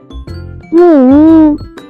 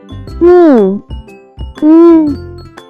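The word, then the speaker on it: 木屋: can be pronounced as 木屋木屋木屋 Let's break down it to understand it even more. It has two character. Pronounce with fourth and first tone.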